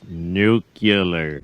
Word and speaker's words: nuclear: Nuclear. It's pronounced nuclear.